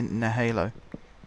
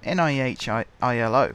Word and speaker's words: nihilo: pronounce that I think some people say no hallo but it's NIH I ILO from what I can